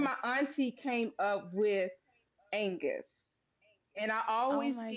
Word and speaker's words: Angus: A lot of people kind of mispronounce it, say. I'm like Angus, like the beef, or Angus, like Angus. ACDC. You remember the guitar player in ACDC? His name is Angus.